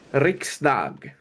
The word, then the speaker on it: Riksdag: Riksdag. Yes, perfect pronunciation.